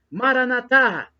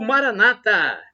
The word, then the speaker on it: Maranatá: aramaico, dialeto de Jesus, Maranatá. É como pronunciamos nós católicos com a tônica na última sílaba. Ou Maranata, como pronunciam os nossos irmãos separados, os evangélicos ou protestantes. Não importa. Eles falam Maranata com a tônica na penúltima sílaba, mas são nossos irmãos mesmo separados.